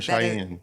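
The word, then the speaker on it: Shein: No, that's not Is it Sheen or Cheyenne? Sheen. I don't know how it's pronounced.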